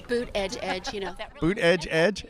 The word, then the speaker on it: Buttigieg: okay how do you how do you say it Buddha judge all right there you you go that's another one double edge helps boot Edge Edge you know boot Edge